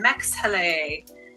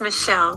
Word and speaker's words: Mexhele: Okay, we are going to Mexhele. Mexhele. I hope I pronounced that right. You can unmute yourself, Mex. It's Michelle.